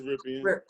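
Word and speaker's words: Rypien: I think it's Ripien. Ripien. Like Mark Ripien, the old Redskin quarterback.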